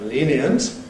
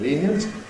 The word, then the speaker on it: lenient: One is the alternation in words like lenient, becoming lenient.